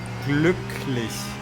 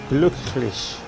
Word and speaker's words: Glücklich: Say it again, say it slowly. Glücklich. Glücklich. Yeah, something like that. Spell it. G-L U, like U. You Yeah. don't have that. You don't have that in English.